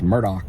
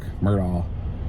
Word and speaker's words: Murdaugh: uh crime news the Alec murdaugh trial case Murdoch Murdoch he's pronounces his name unusually spelled like Alex um